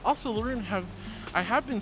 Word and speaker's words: LeRune: But I just see L-E and then R-U-N-E, so I say Laroon. Laroon. Laroon says either way works, but even writing Laroon, the E is silent. So is it Larun? Or Larun?